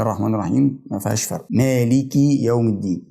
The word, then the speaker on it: مالك: الرحيم ما فيهاش فرق ما لك يوم الدين خد بالك من كلمه مالك طبعا او الميم عليها فتحه زي ما احنا قلنا اللي انا عايز الفت نظرك له حرفين في الكلمه دي حرف